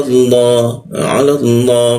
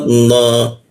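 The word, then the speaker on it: الله: Nah, la bertemu lafaz Allah. Ya, maka dibacanya dia ke arah O deh ya. Lam atas jadi dibaca ke arah O. Jadi cara bacanya seperti ini. Ala Allah keluarnya O tapi bibirnya A.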